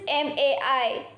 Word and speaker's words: mei: next Pinyin, which is MAI. Has a pronunciation of My. My. Repeat after me. My. Now we are moving on to the next Pinyin, which is MEI. Has a pronunciation of Mai.